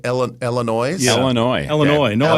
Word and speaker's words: Illinois: Illinois. No S. Illinois. Yeah. How would you pronounce the Washington Commanders quarterback Marcus?